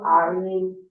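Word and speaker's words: عين: কারণ দোনোটাই গলার মাঝখান থেকে উচ্চারণ হয়।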